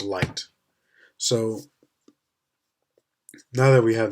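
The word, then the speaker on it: Licht: is the Li is it's spelled li CH T and it's pronounced light so now that we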